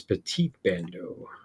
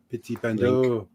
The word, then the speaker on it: Petit Bando: This is Petit Bando. Petit Bando. You get to say it like you're a Frenchman.